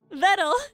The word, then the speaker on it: Vedal: Vedal, it rhymes with metal.